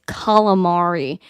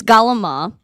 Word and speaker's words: calamari: know what galama is how you say is calamari but if you if you're in Brooklyn and you're a real Italian it's galama really great galama um